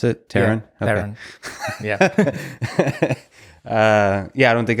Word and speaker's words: Terran: said that out loud is that how you pronounce it Terran yeah yeah I don't think I've ever seen